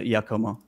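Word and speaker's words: Giacomo: um so like it's it's spelled g-i-a-c-o-m-o but so it's pronounced with a y so it's a yakoma oh yeah okay so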